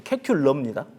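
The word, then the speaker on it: Kekulé: 벤진을 누가 발견했죠 발견했습니다 독일 사람한테 물어봤더니 끝에이 일을 발음을 해야 된다고 하더라고요 그래서 케큘러입니다 케큘러가 그 페트라베일런트 카본에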